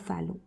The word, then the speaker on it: Fallot: So T is silent over here, so it is called as Tetralogy of Fallot.